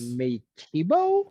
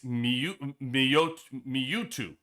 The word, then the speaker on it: Mewtwo: Metibo? Aha. See what I mean? I actually went on YouTube and I actually pronounced to make sure out of respect I could pronounce the man's name correct. It's Mewtwo.